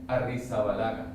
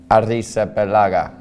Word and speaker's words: Arrizabalaga: Arrizabalaga. Arrizabalaga.